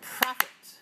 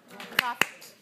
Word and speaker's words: profit: Now, the next word is the word profit. Profit. Profit has how many syllables? 2. Okay, where's the stress? 1, first syllable.